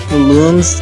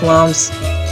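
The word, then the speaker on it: Lums: Uh, the lumps are now pronounced looms instead of lumps or lumination. So, let's just call them looms now to build giant robots.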